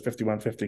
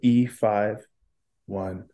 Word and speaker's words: E5150: I know everyone says 5150 because of Van Halen, but I always try to correct myself to say E5150. That would actually be how you'd spell it.